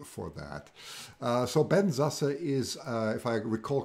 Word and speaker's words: Sasse: Someone just asked, Cassie Scott asked, are you related to Ben Sasse? I hope I pronounce his name correctly. I'm pronouncing it the way Germans pronounce it. It's actually of Saxon origin.